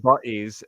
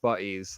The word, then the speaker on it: Butties: You're welcome to watch Butties, and that's how it's pronounced, Butties, like British buddies, Butties.